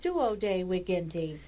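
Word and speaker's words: duodeviginti: So the V, as you can see, the V is always pronounced like a W.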